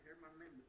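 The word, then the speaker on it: Germán: Like Herman with H. Like the writer Herman Melville. Is the same. Like Herman's Germits. Because in Spanish the G and the E pronounced like H. It's Herman.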